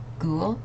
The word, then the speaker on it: ghoul: religious uh words uh so like G or ghoul so this is like a a kind of